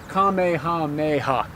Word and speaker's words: Kamehameha: I don't know how exactly they pronounce them. But if I was to say this in Japanese, I would roughly say Kamehameha.